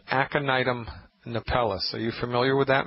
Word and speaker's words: Aconitum napellus: First I'll say it, and then I'll spell it. It's called Aconitum napellus.